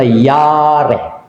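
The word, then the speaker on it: ירא: No, pag-pronounce na yare. Yare. Yare.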